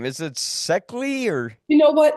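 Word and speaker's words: Szekely: Is it Seckley or You know what? It's pronounced Zeke. Zeke? Okay. Yes, it's a Hungarian. Her late husband, uh, whom they called the professor, was from Hungary.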